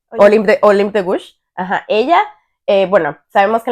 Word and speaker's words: Olympe de Gouges: Sí, ¿cómo se pronuncia? Olympe de Gouges.